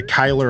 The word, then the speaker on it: Cuyler: Yeah, Cuyler, I think, is what he told me to say when I asked. Yeah. Just like Guy, but with an lure at the end.